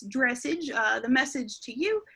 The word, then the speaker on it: dressage: couple reasons number one the word dressage uh looks like it should rhyme with the word message okay and i guess if you think it's dressage uh the message to